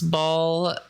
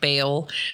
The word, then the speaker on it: Baal: So you can pronounce Baal like that or like Baal. So either one works.